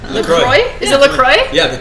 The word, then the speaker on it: LaCroix: LaCroix. LaCroix.